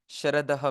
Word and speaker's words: शरदः: हैं पृष्ठ संख्या 88 शरदः में श जो है वो तालव्य सकार है तालव्य तालव्य सकार कहते हैं षटकोण कहते हैं हिंदी में संस्कृत में तालव्य सकार कहते हैं तो इसका उच्चारण दांतों से थोड़ा सा पीछे जी जिवा को लगा कर के उच्चारण करते हैं श ऐसे और सकार दंत्य सकार